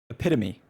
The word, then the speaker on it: epitome: fan, truly the epitome of content Epitome. That word is pronounced epitome.